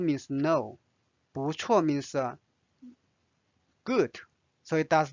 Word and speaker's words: 不错: 不错 This is interesting. 错 means wrong. 不错不 means no. 不错 means good.